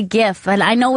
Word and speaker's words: GIF: call them gifs and I've heard that that's the correct way to say it is a gif GIF like choosy mothers choose GIF exactly yeah I know